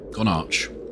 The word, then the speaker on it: Gonarch: Now we follow Gonarch. Gonarch? I don't think when I first played Half-Life 1 I ever pronounced the H.